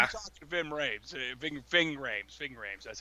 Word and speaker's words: Ving Rhames: Ving Rhames, that's how you say his name.